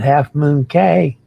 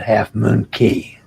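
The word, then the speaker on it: Half Moon Cay: on who you ask most of us at Holland America pronounce it key but some say k as long as you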